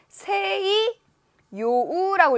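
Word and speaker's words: 西洋: 서양풍은 뭐냐면 서양이라는 단어, 요걸 어떻게 읽을까요? 자, 요거는 세이 요우라고 읽으셔야 돼요.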